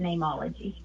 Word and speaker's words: Neimology: And so I spelt it how name is said in Latin, which is N-E-I-M, but I still pronounce it Neimology.